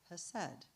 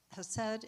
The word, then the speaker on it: hesed: It's also difficult to pronounce if you pronounce it properly because it has a little little Hebrew thing at the beginning, you know, has right.